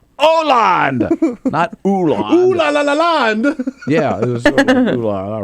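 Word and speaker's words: Hollande: name no he doesn't it's franois land Oland and he kept saying Anand he made it so much harder than it actually is yeah I thinkand he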